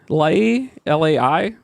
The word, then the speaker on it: Lai: She is Lai, L-A-I. How do you pronounce that?